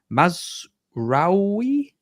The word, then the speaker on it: Mazraoui: Man United, they've signed De Ligt, and I'm going to get this pronunciation wrong, Mazraoui.